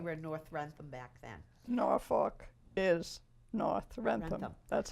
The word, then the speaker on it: Norfolk: And the older, it sounds like Norfolk is sort of the regional like the word that it's saying, but it's actually Norfolk.